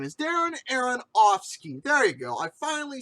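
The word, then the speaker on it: Aronofsky: out because the thing is is that darren aaronoff's darren aaron opps darren aaron whatever the his name is darren aaron offski there you go i finally said it right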